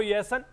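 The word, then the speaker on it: Jansen: Marco ये येसन की Marco spelling आप जरूर जे से स्टार्ट हो रही है लेकिन जे साइलेंट है वो य सन है तो शानदार प्रदर्शन नाम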